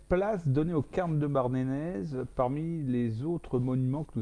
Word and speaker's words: Barnenez: Merci Jean-Jacques de nous avoir éclairé sur ce fabuleux monument qui est le cairn de Bardanès, si on veut bien prononcer.